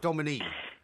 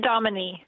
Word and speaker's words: Dominique: Dominic, am I saying it right? Or is it Domine? It's Dominique. It's Dominique.